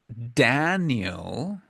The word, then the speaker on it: Daniel: this yesterday but um when you say Danielle and you say Danielle is a woman actually an English that is pretty obvious because the the name Daniel Daniel is pronounced a